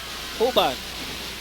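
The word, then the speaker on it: Juban: Uban commits an offensive foul. Big break here for LaSalle. Uban. That's spelled J-U-B-A-N.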